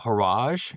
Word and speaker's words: Horage: You'll learn about Horage, h.o.r.a.g.e. Rhymes with garage.